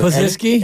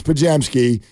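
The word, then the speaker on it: Podziemski: Pozinski? Anytime somebody mispronounces Pajemski, they go into our vault.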